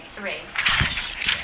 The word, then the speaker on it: Sarei: So you just have to get the a different vowel sound for the A, yeah.